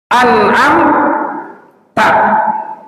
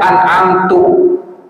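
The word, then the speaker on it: أنعمت: Harusnya baca an'am ta. Harusnya baca an'am ta. dia keliru bacanya an'amtu. Ini bisa merubah makna. Harusnya an'amta dibacanya an'amtu.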